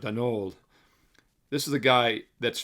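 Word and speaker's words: Daigneault: And as long as head coach Mark Dagnalt, Denult, by the way, in France, it's pronounced Dol.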